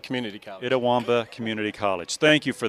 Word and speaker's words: Itawamba: go to school i'm going to let you pronounce the name of the school you attended itawamba community college itawamba community college thank you for that so you